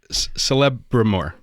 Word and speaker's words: Celebrimbor: mean, but it took me ages to know that the C sound is a K in Tolkien.